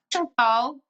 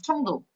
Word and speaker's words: 칭따오: 칭따오. 칭따오 몰라요? 칭따오는 중국식 발음이고요. 한국식 발음 청도.